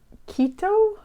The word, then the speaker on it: Quito: So when he was around 5, his parents were taking him on a trip from where they lived at Quito, I think is how you pronounce it, Ecuador.